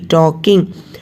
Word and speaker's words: talking: It was spruce tree talking, TALKING, talking. L is silent, children, so it should be pronounced as talking only, not talking.